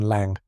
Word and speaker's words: Lang: And though we jailed lang pronunciation lang rhymes with song, Malone ren pronunciation ren like pen and vesper pronunciation vesper like whisper.